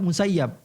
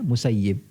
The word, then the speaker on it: Musayyib: Kalau kita baca dalam Bukhari, Muslim dan kitab-kitab hadis yang lainnya, kita akan dapati tulisannya tetap Musayyab. Okay. Tapi kita diharuskan membacanya Musayyib.